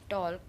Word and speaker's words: talk: Stall talk tall wall walk want. Okay. Here again in talk the L is silent.